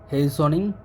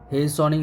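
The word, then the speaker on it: hastening: হ্যাসেনিং এর বাংলা অর্থ হচ্ছে এর সঠিক উচ্চারণটা আসলে হবে হেসনিং। অর্থাৎ এখানে টি এর উচ্চারণ হবে না। হেসনিং হবে। হেসনিং।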